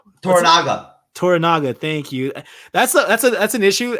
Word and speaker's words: Toranaga: Toranaga, thank you.